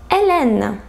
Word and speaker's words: Hélène: H, Hélène. H, Hélène. So for this letter, H is silent. You write it, but you don't pronounce it.